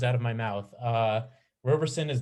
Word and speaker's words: Roberson: it wrong you did robertson it's roberson no t oh my god yeah